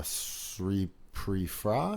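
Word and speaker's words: Sripraphai: an obvious cliche as this is when uh sri pre-fra that's how you say it so pretty far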